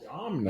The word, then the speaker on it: Domhnall: Domhnall. I thought it was Donald Gleason. What is that name? I think it's Hmm.